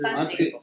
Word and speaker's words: patria: En fait, en espagnol, on met l'accent sur certaines syllabes. Et là, l'accent, elle est sur le A. Le français. Patria.